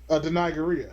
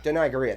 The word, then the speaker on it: Danai Gurira: Danai Gurira. Danai Gurira. That's how you say her name.